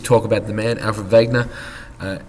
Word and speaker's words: Wegener: with a quick talk about the man Alfred Vagner uh it's spelled wer but it's pronounced Alfred Vagner he was a German man a German meteorologist